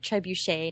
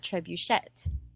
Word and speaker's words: trebuchet: It should sound like trebuchet, not trebuchet.